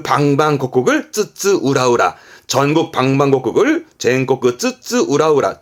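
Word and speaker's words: 津々浦々: 훈으로 쓰는 부분들이 있는데 요거 발음이 좀 어렵습니다. 쯔쯔 우라우라입니다. 쯔쯔 우라우라.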